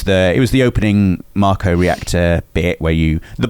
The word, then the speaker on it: Mako: a Marco reactor sorry I would say Mako but officially it's pronounced Marco uh can you say Mako it's definitely not pronounced Maco it's definitely yeah give us